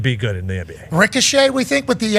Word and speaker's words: Risacher: It's Ricochet.